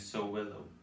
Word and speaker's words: Sowilo: The pronunciation I'll be using is Sowilo.